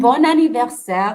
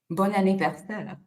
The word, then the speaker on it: Bon anniversaire: And bon anniversaire, Maya, is French, and it is a happy birthday.